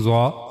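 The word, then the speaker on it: ظ: origin of zah that for pronouncing zah we have to use top of the tip of the tongue and it will go connect to the edges of the two top front teeth.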